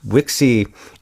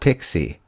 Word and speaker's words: Wixey: And Wixey is spelled Wixey. It's not Pixie, like Picc. Not Pixie or Picky. Yeah. Yeah. It's not Wiki.